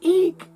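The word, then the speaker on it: Ik': the glyph of eek it's called eek in the yucatan pronunciation and it is breath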